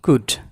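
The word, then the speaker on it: could: উডের এল উচ্চারিত হবে না, কুড।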